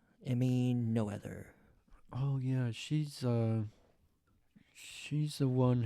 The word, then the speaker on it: Noether: It's Noether. Emmy Noether.